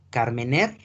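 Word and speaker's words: Carménère: Por favor, anoten, Carmener, se escribe Carmenere, uva tinta por excelencia de Chile.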